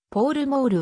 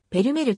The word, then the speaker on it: Pall Mall: されたがポールモールはアメリカ風の発音でやはりイギリスでは同商品をペルメルと発音するありがとうございます